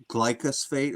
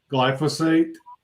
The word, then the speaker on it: glyphosate: he was saying that the glycos I always pronounce it wrong glycosphate or glyphosphate glyphosis say it again glyphosate yeah I'll probably always get that wrong glycos